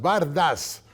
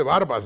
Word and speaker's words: bardas: Y esto debe poner las bardas, no se dice barbas, ¿no? Aquí la gente dice barbas, pero las bardas en remojo de todos los contrincantes políticos.